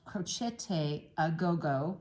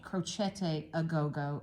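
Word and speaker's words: Crocette a Gogo: a pattern by them it's pronounced crochete aogo because they're Italian crochete crochete aogo and it means um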